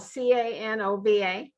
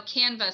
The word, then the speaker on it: Canva: Or And that's spelled Canova. no, Canva, Canva.